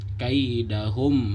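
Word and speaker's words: كيدهم: Lalu di kaidahum fi tadlil itu juga sama, disebut izhar syafawi karena mim sukun bertemu dengan huruf fa, nggak boleh ditahan. Kaidahum, nggak boleh dibaca ditahan, tapi dibaca kaidahum fi tadlil.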